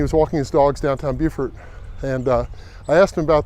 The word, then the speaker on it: Beaufort: french it'd be pronounced beaufort but actually instead it was the norman french from back in the middle ages and there's a word that sounds like view like beautiful now as i mentioned